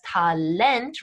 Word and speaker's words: Talent: syllables that are either completely english looking but pronounced differently such as talent right with that emphasis on the final syllable or they're english-ish looking